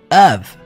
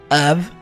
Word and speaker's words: of: alunos é a preposição of não confunda of com a palavra off certo lembre-se que a letra F aqui tem som de v of around conecta